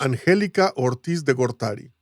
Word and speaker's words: Angelica Ortiz de Gortari: Or this this researcher at Bergen University, Yes, which you will enlighten us by pronouncing her name for us. Angelica Ortiz de Gortari.